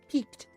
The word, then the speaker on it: piqued: Piqued. Good word. It's a good word. I like this word a lot. They're both peaked. Peak or peak. They're said the exact same.